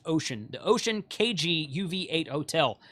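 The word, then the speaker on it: Wouxun: It's actually pronounced Ocean.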